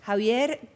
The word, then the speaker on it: Xavier: Lo pronunciamos Javier, pero sí se escribe con X. Javier, cardiólogo, médico.